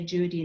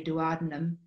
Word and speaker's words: duodenum: apologize for my pronunciation in my country we say Judy and I know you guys say duodenum but I'll try to